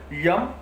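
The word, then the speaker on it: यं: उसके ऊपर यम, य ऊपर बिंदी अर्थात यम संस्कृत का शब्द है, ऊपर बिंदी ये म में बोलती है, तो यम।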